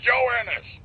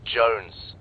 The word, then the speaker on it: Jones: him for you private joanis joanis joanis where the hell are you sir for the millionth time my name is pronounced Jones Jones shut up Joan seriously